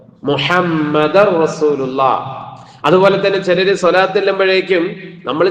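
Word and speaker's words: مُحَمَّدٌ رَسُولُ اللَّهِ: പലരുടെയും പറച്ചിലിൽ അങ്ങനെ വരാം മുഹമ്മദൻ റസൂലുള്ള മുഹമ്മദൻ റസൂലുള്ള എന്ന് വരും അതുകൊണ്ടാണ് പറഞ്ഞത് എങ്ങനെ വരണം മുഹമ്മദ് റസൂലുള്ള അതുപോലെതന്നെ ചിലര് സ്വലാത്ത് ചൊല്ലുമ്പോഴേക്കും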